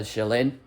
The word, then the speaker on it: Qilin: He's coming across this deer or dragon-like creature called the Shillin, which is spelled like Qilin.